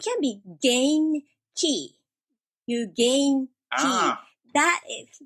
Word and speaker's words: Genki: I pronounce as gain key, and that explains everything so well.